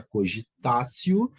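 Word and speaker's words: cogitatio: o nome de cogitacio cogitacio se escreve cogitat mas se pronuncia cogitacio cogitação é quando o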